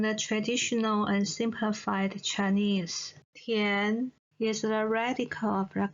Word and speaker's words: 填: So here, Tian belongs to the second tone and is pronounced as Tian.